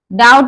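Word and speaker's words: doubt: Date, डाउट, डाउट बोलेंगे, इसमें we silent है क्योंकि वी के बाद टी आया है।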